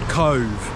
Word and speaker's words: Cobh: we're going to a town called Cove I hope I'm pronouncing that right because you'll see by the spelling that that isn't how you would pronounce it in the English way but anyway to get